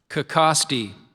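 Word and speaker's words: cacaxte: Kicosti.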